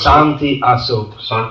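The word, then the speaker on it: Santi Asoke: Santi Asok. They don't pronounce the sh.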